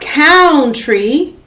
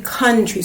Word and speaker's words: country: bound count ground and the last one it's not country because up here we have count so this is not country it's actually country so it makes an un sound so it switches up